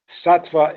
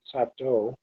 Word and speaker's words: Sattva: Sattva is not how they pronounce Sattva, they pronounce it Sato, but we don't actually have that marked here.